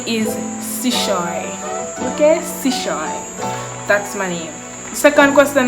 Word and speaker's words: Chesouye: please pronounce your name and guys i literally pronounced my name every single video my name is sushoi okay that's money second question i got is